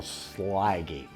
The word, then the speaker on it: Slaggy: Okay, she come from Youngstown, Salagi, or as they pronounce it now, Slaggy, S-L-A-G-G-Y.